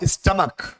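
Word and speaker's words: stomach: है, सी एच है, लेकिन प्रोनाउंसिएशन क्या है, स्टमक।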